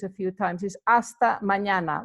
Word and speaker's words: mañana: if you practice a few times is hasta mañana like when you say espana that's the same